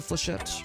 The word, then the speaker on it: Flechette: how much of the Flechette? Flechet? How do you guys pronounce it? Is it Flechet or Flechette? I always assume it's Flechette, but it feels like it should be French.